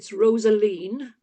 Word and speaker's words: Rosaleen: No, it's Rosaline, if you give Right. me my full title. Right. But I found when I went to the north of Ireland that I got called Rosaline, Rosemary, all sorts of things.